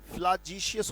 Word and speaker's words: flagitious: फ्लैजिशियस का भी मतलब something which is very bad बेटा, फ्लैजिशियस उच्चारण है इसका, फ्लैजिशियस या फ्लैजिशियस कह सकते हैं, फ्लैजिशियस।